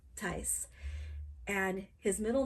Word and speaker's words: Thijs: And it's spelled Thijs and it's pronounced Tys.